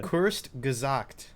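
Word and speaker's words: Kurzgesagt: yeah yeah is that how you pronounce it wait say it again cursed gazocked i think hold on hold on i gotta i gotta i think that's the first time i've ever heard it's pronounced right except maybe in the videos where they say their own name it just says short saying huh short tail is is it german kurtz is short and gazak is like it's the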